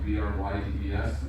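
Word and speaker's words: Bryde's: Notice that the wording, this is the spelling, B-R-Y-D-E-S, but it's pronounced Brydes, and the pygmy whales.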